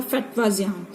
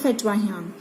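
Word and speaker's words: Fetvajian: थी, जिनका नेम था फटवाजियान. जहाँ पे जो जे है ये साइलेंट होता है. हम इसको जब प्रोनाउंस करते हैं तो हम इसको ये बोलते हैं फटवाहियान.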